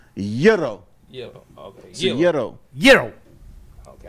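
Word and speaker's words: Gyro: It's not girro. It's not yuro. It's yuro.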